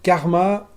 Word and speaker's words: KRMA: c'est parti alors donc le karma ça s'écrit krm à carmat c'est donc le nouveau